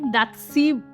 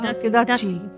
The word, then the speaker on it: Datshi: দাতসি উচ্চারণ হয় না বাট দা হ্যাঁ দাসি হ্যাঁ দেন আমরা যেহেতু এখানে চিকেন এড